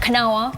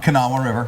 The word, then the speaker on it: Kanawha: Pronounce that, Kanawha. Kanawha River.